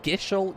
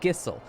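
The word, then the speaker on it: Gysahl: 14 years old that it was gishel greens not gissel i thought there was an h in there i have seen that word thousands of times and not once noticed huh that's gissel not once not until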